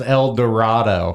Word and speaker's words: El Dorado: El Dorado, Oh, that's It's pronounced El Dorado. El Dorado.